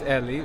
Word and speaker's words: Ellie: It's Ellie, but we are in the US. So, they call me Eli because apparently Ellie is a girl's name in the US. So, I'm Eli here, but Ellie is the name.